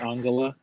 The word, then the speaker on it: Angela: It's pronounced Angela.